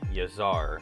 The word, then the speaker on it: Yazar: Alright, so I've been pronouncing the name a little bit wrong here. So it's actually called Aestri Yazar.